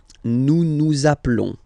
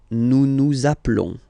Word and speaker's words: nous appelons: And then little link would be perfect. So let's pronounce the whole thing again. Nous appelons. Nous appelons. Okay, final s doesn't exist. Nous appelons.